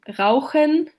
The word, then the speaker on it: Rauchen: And for example, in Frauchen, which translates to the diminutive of wife or woman, the softer h follows a front vowel, while in Rauchen, the h follows a back vowel and is therefore pronounced as the other phoneme.